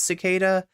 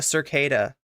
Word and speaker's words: cicada: or how to pronounce cicada yeah he was calling it like a Circa like the Circas like circadian rhythm I I don't know